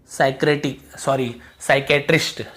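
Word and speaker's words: psychiatrist: साइकेट्रिस्ट, ठीक है, साइक्रेस्ट।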